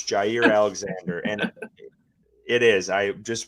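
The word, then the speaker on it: Jaire Alexander: It's Jaier Alexander. And it is I just watched a pronunciation video.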